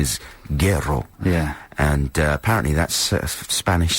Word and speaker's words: Guero: I think the correct pronunciation is Guero.